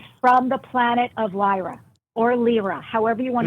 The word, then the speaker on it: Lyra: How do you pronounce it? I say LRA like LRA.